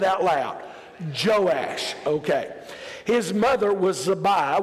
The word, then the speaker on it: Joash: I want everybody practice say his name it's joash everybody said it out loud joash okay his mother was zabi won't make you